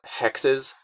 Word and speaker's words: HXXS: Lately, there's this band, I think it's pronounced Hexes, HXXS, really weird electronic stuff.